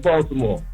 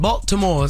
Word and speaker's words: Baltimore: You pronounced every word and every letter in the word, yo. Oh, y'all don't pronounce every word? What is it? Baltimore. Baltimore? Like B-A-W. Baltimore. B-I-M-O-R-E. Baltimore. Yeah, but I wanted to